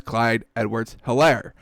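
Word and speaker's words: Clyde Edwards-Helaire: i love it um and there's an h so i will pronounce it as clyde edwards hilaire um so he had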